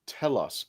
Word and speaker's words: Telos: Toy Dalek, and Is that basically, Tedesto or Telos Publishing? that's what I'm trying to pronounce.